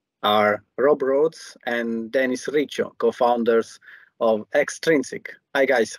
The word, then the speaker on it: Riccio: Yeah, very much 100% Italian, half Napolitan, half Calabrese, the kitchen of Italy, and pronounced my name Riccio after many years of calling myself Riccio.